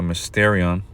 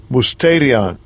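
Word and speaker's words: μυστήριον: palabra griega para misterio, que en el griego se pronuncia mysterion, salaki, mi griego no, no es bueno. But anyway, mysterion. Salaki, hay que dejar que el diablo lo pronuncie. Strong's G 3466, Musterion.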